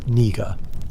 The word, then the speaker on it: niger: The word niger, pronounced niger in classical Latin, meaning simply black, the